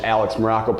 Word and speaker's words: Maroko: I am Coach Alex Maroko, pronounced just like that country, spelled absolutely nothing like it.